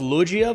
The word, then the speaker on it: Luojia: this next Vine also apparently it's pronounced luia Vines so we're going to